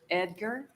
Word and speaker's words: Ediger: an appointment of James Ediger did I pronounce that correct Edgar Ediger that darn G I'm sorry welcome to